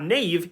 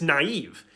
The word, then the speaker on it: naive: still see it sometimes it's not Nave it's naive it's not reenter it's re-enter